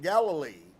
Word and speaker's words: Galilee: it was located in Galilee here again he pronounced the word other than I was accustomed to hearing it he said galile these names did not